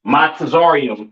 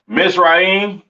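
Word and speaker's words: מצרים: your Egyptians all right pronounce my torium in Hebrew my torium in the Hebrew all right plur yeah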